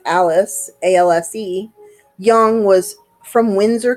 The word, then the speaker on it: Alse: Alse, which is pronounced Alice, A-L-S-E, Young, was from Windsor, Connecticut.